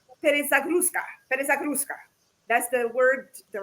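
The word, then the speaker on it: перезагрузка: And don't, my friends Russians, please don't kill me if I mispronounce it. It's called perezagruska.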